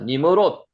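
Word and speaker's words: נִמְרֹד: 자, 니머롯. 니머로드라고 발음이 되고요.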